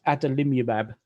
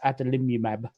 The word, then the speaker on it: adalimumab: And the drug I take, its actual proper name is adalimumab.